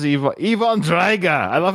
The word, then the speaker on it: Drago: how he does Drago it's drga like with in Russian with like an O at the end they always say it like an A and I don't know